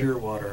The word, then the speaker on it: Shearwater: Shearwater, Nova Scotia. How do you spell that? Name of a bird, Shearwater, S-H-E-A-R, water. Oh, okay. One word, Shearwater. Okay. It's a seabird.